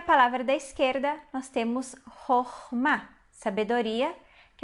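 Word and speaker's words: חכמה: A segunda sílaba a gente vai ler como A, porque apesar de ser uma sílaba fechada, ela é uma sílaba tônica. Então, Chokhmah.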